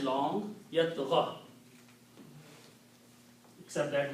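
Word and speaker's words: يطغى: Yat gha. Except that we are not pronouncing this last dhamma because it's a mismatch with the ya.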